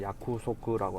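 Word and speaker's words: 約束: 뭐 가장 기본적으로 많이 하는 게 이제 약속이라고 하면은 이제 일본어는 야쿠소크라고 하거든요. 근데 이제 발음을 빨리 하니까 약속이라거든요.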